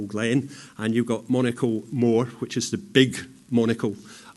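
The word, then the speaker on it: Mhor: a place called Monaco Moor. And you'll notice the word more. It's spelt M-H-O-R.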